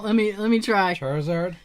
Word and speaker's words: Charizard: '90s he I don't even know how to pronounce it car's name well let me let me try Charizard Charizard that's exactly right yeah was a rare find